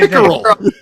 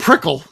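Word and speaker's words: Pickerell: How you say Pickerel. Pickerel? Yeah, not Prickle.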